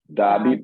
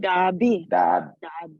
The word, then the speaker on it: dabi: Dabi. Beautiful. No. B. Dabi. Excellence. Dabi.